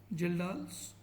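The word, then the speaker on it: Kjeldahl: बाय the ladle method spelling इसमें के से स्टार्ट होती है बट के साइट रता है के जेई एल डी ए एच एल जल डालस मेथड बेसिक चीज क्या है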